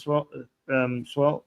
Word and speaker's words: Sowell: Thomas Swell, did I pronounce him right? I know he's an economist. He's a libertarian economist. Did I pronounce his last name? Thomas Sowell.